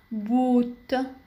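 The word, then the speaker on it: Boot: دبل أو تنطق طويلة في كلمة بوت بوت وتعني القارب.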